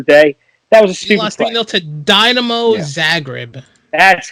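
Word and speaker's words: Dinamo Zagreb: something during the day that was a speech dynamo zagreb that's how you pronounce it remember to bet off uh you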